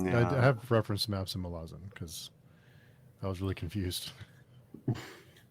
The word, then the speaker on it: Malazan: it whatever I just I just pronounce myazin because I've just used to it now so that's that's